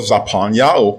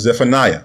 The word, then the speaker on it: Zephaniah: Now let's go over to the book of Zaphan, mispronounced as Zephaniah, chapter 3 and verse 9.